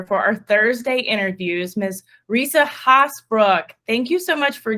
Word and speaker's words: Risa Haasbroek: Risa Haasbroek.